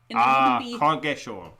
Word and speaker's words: Coggeshall: So when I was saying Coggeshall, is it shall? Shawl. I don't know, because shawl would have a double A if you were doing it phonetically. Yeah, but if you're doing it there, Cog-esh. Coggeshall. Yes. Coggeshall.